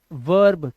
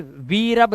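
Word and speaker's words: verb: टेरमैरप्रेम सीख रहे हो वर्ब क्रिया इसको बोलते हैं हिंदी में वर्ब अब यहां पर वरब नहीं पढ़ेंगे वर्ब पढ़ेंगे क्यों क्योंकि ई के बाद आर है तो य जो ई आर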